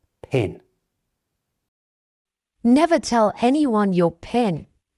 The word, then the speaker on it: PIN: This one is never said as the letters, but as the word itself, PIN.